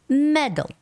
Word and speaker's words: medal: like but in English the stress goes on E and there's no no stress for a so it's got to sound like medal medal medals medals same thing